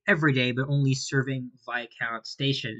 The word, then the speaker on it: Viscount: And just like a 900, it runs all day every day but only serving via count station. And yes, the S is silent. Growing up, I thought it was called Viscount Station.